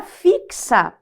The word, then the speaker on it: fixa: agora fixa Olha só olha esse x aqui ó eu falo fixa veja que nós temos aqui ó nessa nessa função ó nós temos fixar nós temos cinco fonemas na letra D porque o x se desmembra fixa como se fosse